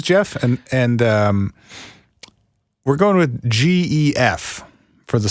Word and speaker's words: Gef: and we're going with GEF for the spelling of that. Yeah, and technically speaking, it's Geff. It's a hard G. It's goat or Gaelic.